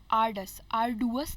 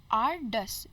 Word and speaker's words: arduous: Arduous नहीं बोलेंगे, ardus, D-U-O-U-S को pronounce करेंगे dus.